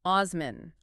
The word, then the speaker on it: Osman: Turkey today, is that his name was Osman. Osman, which is the Turkish pronunciation of the Arabic name Uman.